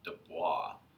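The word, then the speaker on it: de Broglie: his name looks kind of funny but it's pronounced Dubois right he was the one that proposed that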